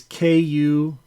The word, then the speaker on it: Kuretake: And Kuretake is Kuretake. Yeah, they couldn't tell by my fancy pronunciation.